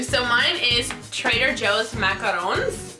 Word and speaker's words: macarons: Is that how you pronounce it? Macarons? Macaroons, I think. I feel like macaroon is a coconut cookie. True or false? Let us know in the comments how you pronounce. I'm gonna say macarons because I feel like that's how the French say it and I wanna be cool like the French.